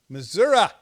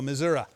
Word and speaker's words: Missouri: Missouri. That's how they say it here, Missouri.